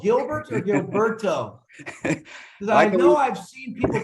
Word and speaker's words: Gilberto: my full name is Gilberto you pronounce it well just roll your R and we're cool with Gilberto okay gee it is